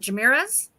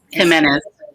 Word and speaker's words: Jimenez: truly by Abby I always say the last name wrong is it jamira's Jimenez Jimenez thank you thank you I love the